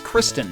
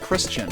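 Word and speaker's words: Christin: not ease number two it's Christen not Christian what the are you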